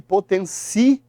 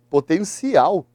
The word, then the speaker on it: potencial: Sabe que potencial, olha só. Opa, marquei errado. Potencial não é uma proparoxítona. Potencial é uma oxítona. Não leva acento.